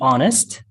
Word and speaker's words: honest: Yeah, to be honest, you don't pronounce the H.